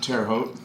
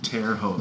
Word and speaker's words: Terre Haute: was going to go to a place called Terre Haute, Indiana. Mm-hmm. Terre Haute? Terre Haute, thank you. Terre Haute. I am terrible with pronunciations.